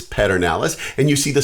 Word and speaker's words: Pedernales: And in case you're some of those LBJ people that don't know exactly how to pronounce Pedernales, it's Pedernales, and you see the spelling of it down there.